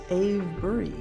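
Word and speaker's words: Avebury: I had not known about Avery until it's not Avery. It's Abury.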